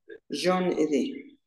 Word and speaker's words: J'en ai deux: Jean Edé. Jean Edé. Sí, Merci. como un nombre, como hay un nombre que es como John.